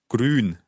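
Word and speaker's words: grün: what would green be hard to pronounce green green that's the u sound again green green so let's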